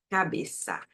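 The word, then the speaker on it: cabeza: exemplo aqui português cabeça em espanhol a pronúncia é a mesma Mas a escrita é cabeça cabeça Então esse som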